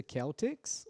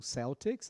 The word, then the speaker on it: Celtics: A Pro Estela falou it's the Celtics, ou Celtics, as duas pronúncias estão corretas aí.